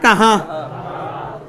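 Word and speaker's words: کہا: দেখেন দুইটা উচ্চারণের মধ্যে আকাশ পাতাল তফাৎ। এটা উচ্চারণ হচ্ছে কাহা, কি উচ্চারণ? কাহা। আর এটা হচ্ছে খা।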